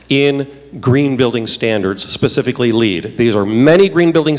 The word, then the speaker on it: LEED: whole lot time on lead except to explain that is not pronounced leads that's a city in England this is a Leeds